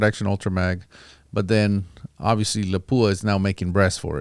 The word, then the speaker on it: Lapua: ultramag but then obviously Lapua is now making breasts for it and and it helps to have that nice brass doesn't it if Lapua I might as well say it correctly if Lapua uh makes